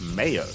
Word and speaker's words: Meo: And we have some confirmation in the chat that In Vietnamese, Meo is pronounced Mayo.